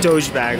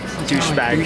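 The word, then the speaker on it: Dogebag: Dojebag, like the meme, but douchebag.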